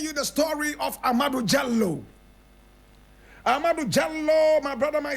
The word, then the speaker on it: Diallo: jello but many people will pronounce it as Dio correct pronunciation is jallo it's an original fani name proper pronunciation is jello but we all say Dio amadu Jello was